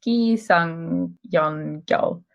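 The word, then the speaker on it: 기승전결: Yeah, that's pronounced Gi Sung Yon Gyo and translates to introduction, development, turning point, and conclusion.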